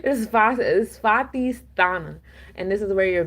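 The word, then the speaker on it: Svadhisthana: Um, this is the Svatisthana. I know I butchered that. It's Svatisthana.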